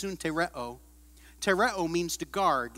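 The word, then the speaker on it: συντηρέω: It's pronounced suntereo.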